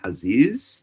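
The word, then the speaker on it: חזיז: So the word is haziz. That's how you say it in Hebrew, haziz.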